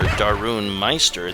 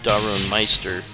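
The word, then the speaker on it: Darun Mister: The Hindi wrestler Darun Meister that we'll look at in just a moment. He is the bodyguard of Polam. There's Darun Meister. It's spelled like Mr., but I guess pronounced Meister.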